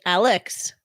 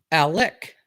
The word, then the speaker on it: Alec: Alec Baldwin. Because I said Alex. Alec.